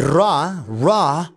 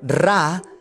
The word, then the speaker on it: Ra: And Ra, or Ra, I prefer to pronounce Ra.